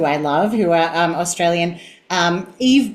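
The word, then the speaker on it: Yve: Eve Blake is one, which is spelled Y-V-E, Blake.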